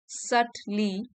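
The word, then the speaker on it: subtly: undermine you while others might सली बी यहां पे साइलेंट है सटली सटल से बना है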